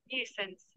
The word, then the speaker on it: nuisance: So I'm a sound ta dichi, that was pronunciation ta bujho kina. Nuisance.